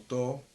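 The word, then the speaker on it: 唐: fue el to porque lo que se pronuncia como to hace referencia justamente a la dinastía Tang el kanji con el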